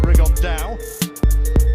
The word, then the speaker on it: Rigondeaux: And Tete's talked about fighting Rigondeaux, or as he's correctly pronounced with the Spanish accent, Rigondeaux. And two absolute geniuses, but